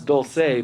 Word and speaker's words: Dulce: They say it's pronounced Dulce. I know it's Dulce, but the New Mexicans kind of do their thing with it.